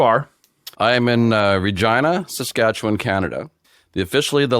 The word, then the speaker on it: Regina: and he says that Regina is the city that rhymes with fun yes that that is